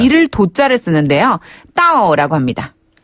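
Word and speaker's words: 到: 따오라고 합니다. 따오. 한 번 더. 따오.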